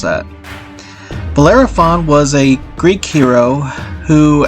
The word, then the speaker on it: Bellerophon: Next, we're going to talk about Bellerophon. I'm sorry, I mispronounced that. Bellerophon was a Greek hero who, after facing numerous